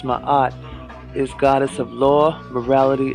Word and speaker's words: Ma'at: he stands upon the symbol of my eye what is my art in hieroglyphics in hieroglyphs in egyptian mythology my odd pronounced ma'at is goddess of law